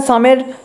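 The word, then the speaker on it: psalm: সাম মানে স্তো এখানে সামের পি আর এল এর উচ্চারণ হবে না উচ্চারণটা হবে সাম তো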